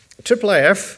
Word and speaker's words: IIIF: uh a little bit about our project so triple which is pronounced what's Triple it's I I I if